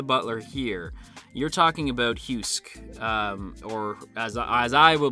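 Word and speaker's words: Heussc: ai program named husk h-e-u-s-s-c uh uh pronounced husk but for the sake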